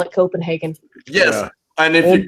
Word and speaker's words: Copenhagen: Have you Copenhagen? No one pronounces that.